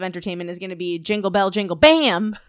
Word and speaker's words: Jingle Bell Jingle Bam: And he goes to Jingle Bell Jingle Bam. Yeah. Just like that. And I was like, so oh my God, that is how you say it.